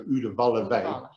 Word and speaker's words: Udawalawe: Udawalawe. U-D-A-W, W is pronounced V, so Udawalawe.